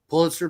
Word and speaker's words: Pulitzer: Pulitzer? Yeah, Pulitzer Prize.